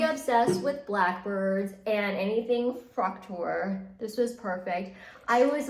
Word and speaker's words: Fraktur: I heard I'm supposed to say Fraktur.